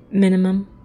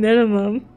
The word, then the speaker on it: Minim: Right, minimum. Oh, I said his name wrong. It's not even minimum. Oh man, Minim and Ziri.